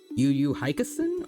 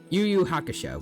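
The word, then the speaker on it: Yu Yu Hakusho: Um, by the way, I did watch finally um Yuyu Hikasen or some I I probably messed up the name wrong, but it's the new a bridged thing that TFS did. Yuyu Hakasho got it.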